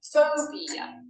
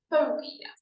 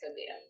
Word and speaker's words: phobia: Sounds great, but I think you probably want to say school phobia. That's a 3-syllable word with the stress on the 1st syllable. Phobia, not phobia.